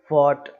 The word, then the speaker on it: fought: ही हो रहा है बस, है ना, GH साइलेंट हो गया, हाई। नेक्स्ट है फॉट, तो ये फाइट की एक सेकंड फॉर्म, थर्ड फॉर्म कहलाती है, FOUGHT, फाइट।